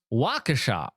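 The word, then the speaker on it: Waukesha: It's pronounced Waca. My apologies. Although you wrote it Wakasha."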